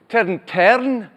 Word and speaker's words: tarn: How's it pronounced? Tern.